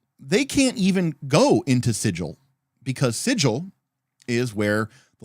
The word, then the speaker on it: Sigil: be have declared that it is actually pronounced sigil it is not pronounced sigle um it is pronounced